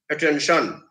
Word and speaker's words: attention: the syllable before it so let's say were like attention so attention that t-i-o-n is a part of the second syllable tension so there it it still is stressed on the sound on the word on the syllable tension attention so he drew